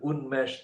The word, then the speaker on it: Unmesh: the gla for tower humblers his name is unmesh desai it is spelled on mesh this i u n m